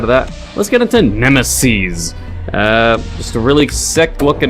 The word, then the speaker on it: Nemeses: So the developer pronounces it Nemeses, not Nemesis, but Nemeses, because there's multiple, and it's about clowns.